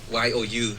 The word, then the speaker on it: YOU: I didn't know if they wrote Y-O-U as in U as in the English U, since they spell it in English. Right. Yeah, Nova's the one I think that tells me it's actually pronounced Yo.